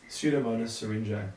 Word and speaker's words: Pseudomonas syringae: How do you pronounce it again? Pseudomonas syringae. Pseudomonas syringae.